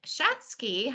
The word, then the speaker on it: Schatzke: family um I am here today with Greg schatzky as he pronounces it who is a BP at Serbian